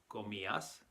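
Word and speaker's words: comías: stem c om and it's very important here to stress the eye because you'll notice that the eye is accented so we have to stress that and make it its own syllable so we say yo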